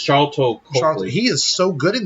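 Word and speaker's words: Sharlto Copley: Charito. It's Charlton Copley.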